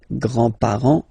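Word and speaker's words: grands-parents: So, so the the the family le and then we'll start with the the grandparents le grandpar le grandpar you don't pronounce this final s here grandpar okay so l grandfather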